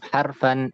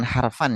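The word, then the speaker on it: حرفا: tanbih tadi ala ama itu bacanya bukan harfan ya tapi harfa yang ada alifnya itu harfa maksudnya itu dua huruf gitu, dua huruf istifham, dua huruf tafsir gitu.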